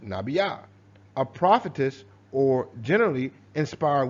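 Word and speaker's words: נביאה: In Hebrew, this is Strong's H5031, Nabiyah, pronounced Nabiyah, a prophetess or generally inspired woman, by implication, a poetess.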